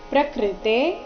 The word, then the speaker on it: ಪ್ರಕೃತೇಃ: ಪ್ರಕೃತಿ ಕ್ರಿಯಮಾಣಾನಿ ಗುಣ ಕರ್ಮಾಣಿ ಸರ್ವಶಹ ಅಹಂಕಾರ ವಿಮೂಡಾತ್ಮ ಕರ್ತಾ ಹಮಿತಿ ಮನ್ಯತೆ ಪ್ರಕೃತೆ ಕ್ರಿಯೇ ಪ್ರಕೃತೆ ಪ್ರಕೃತೆ ಆದ ನಂತರ ಇರೋ ವಿಸರ್ಗದ ಉಚ್ಚಾರಣೆ ಕ ರೀತಿ ಪ್ರಕೃತೆ ಕ್ರಿಯಮಾಣಾನಿ ಕ್ರಿಯಮಾಣಾನಿ ಮಾ